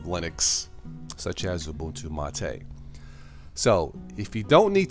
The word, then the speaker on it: MATE: of Linux I'm using either a boon to Ma Tei mate but it's pronounced Ma Tei if you have any questions about that just